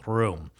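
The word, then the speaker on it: Röhm: So, um Hinckley at this point pulls his room revolver. Uh, it's spelled R O with a little German dip thong over it. Hm. I believe that's pronounced room.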